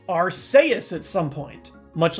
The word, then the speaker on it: Arceus: the game Pokémon Battle Revolution on the Wii arus then comes the rumor that there are trailers where the Pokémon is pronounced araus at some point much like our friends at